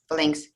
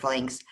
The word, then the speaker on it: phalanx: How to say it? Phalanx. Phalanga in Russian and Greek, phalanga, but phalanx. It was that was a